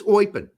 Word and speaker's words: Eupen: So it is Eupen.